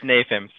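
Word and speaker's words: NAFEMS: I'm sure there's a better way to say that, but I'll let you pronounce it. Manufacturing Simulations Working Group, and the Digital Twin Consortium. It's NAFIMS.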